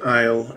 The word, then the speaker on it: isle: It explains why we don't pronounce the S in isle and island, because it never really was there to begin with.